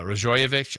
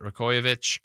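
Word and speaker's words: Rajaković: of Toronto uh Darko uh rajovic I think is how you say it rovic um their coach had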